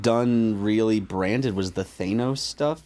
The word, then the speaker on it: Thanos: Yeah, the only thing they've done really branded was the Thanos stuff, right? Or Thanos? Thanos. It's pronounced Sorry, Thanos.